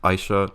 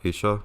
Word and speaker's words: Aisha: have mispronounced things like it took me so many years to learn that it's trounced Aishah not Asia for instance things like